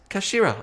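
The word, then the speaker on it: 頭: end of the hilt it's written as head in Japanese but is pronounced as Kashira I believe Kashira so Mr ahi's words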